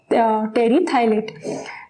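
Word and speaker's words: polyethylene terephthalate: इस pad that is पॉलीएथाइलिन टेरी थैलेट के बनते हैं. Hair P is silent. तो ये प्रोनंसिएशन क्या होगा, टेरी थाइलेट.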